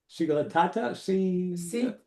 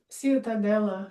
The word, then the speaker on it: Ciutadella: How do you pronounce that, sweetie? Ciutatata? Ciutadella.